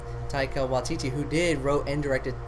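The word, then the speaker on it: Taika Waititi: uh uh what the heck is his name tycho watiti it's hard to say his name taika watiti who did wrote and directed thor ragnarok which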